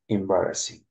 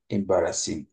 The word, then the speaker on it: embarrassing: جي لو ما جرشتا عم كله جي لو بزحت بجماعة ريو إذا خدمة كلها we don't pronounce the letter G, just pronounce a little part of the G, not fully.